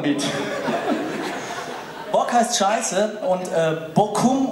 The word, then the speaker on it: Bochum: Bock heißt Scheiße und Bochum oder in vielen Regionen auch Bochum ausgesprochen heißt meine Scheiße.